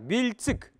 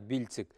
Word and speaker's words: бильцик: Так, бильцик. Вот это слово тоже все знают, бильцик. Произносим теперь правильно. Л мягко.